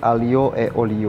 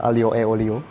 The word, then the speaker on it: aglio e olio: Dan sekarang gue mau bikin spaghetti aglio e olio.